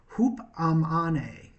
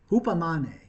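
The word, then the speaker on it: ὑπομονή: I can't spell it out for you, but the way it's pronounced in the original was hupamane, hupamane.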